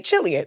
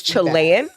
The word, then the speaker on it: Chile: the one out here saying chillian so um folks if you do like the Seabass you're welcome it's Chile yeah or you can just